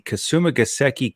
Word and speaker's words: Kasumigaseki: So if I can just pronounce the course correctly, it is the Kasumigaseki Country Club, the East Course.